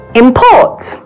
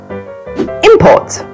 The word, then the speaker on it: import: The general rules for this special case are: as a noun, the stress usually falls on the first syllable. And as a verb, the stress usually falls on the second syllable.